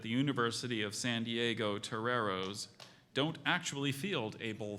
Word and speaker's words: toreros: c l e e r chanticleer correct Toreros Toreros can somebody bring me a whiskey before we can use it in a sentence Jimmy was disappointed to learn that the University of San Diego Toreros don't actually field a bull fighting team okay